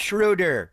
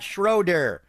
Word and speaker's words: Schröder: discussion point with Dennis shuder and his name is pronounced shudder not schroer I love gu i'